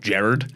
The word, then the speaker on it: Gerard: of the thirsty tweets that hits actually pronounced Jared yeah well that's how he pronounced how he provides is the only way to pronounce it not I'm Jared Jared